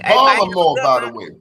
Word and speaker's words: Baltimore: The tea is silent.